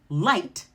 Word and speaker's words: light: You're going to pronounce the T. For example, light, night, right.